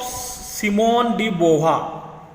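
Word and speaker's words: Simone de Beauvoir: The writing of सिमोन डी बोवा, pronunciation ध्यान में रखो, सिमोन डी बोवा महिला का नाम है।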